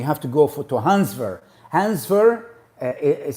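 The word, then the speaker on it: Hans Wehr: english then you have to go for to hansver hansver is spelled h-a-n-s-w-e-h-r hans ver he's german and he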